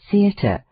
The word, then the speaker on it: theatre: Thus, in the word theatre, the stress of the voice should be on the letter E and first syllable the, and in contrary on the first syllable con. How shocking it is to hear people say contrary, theatre.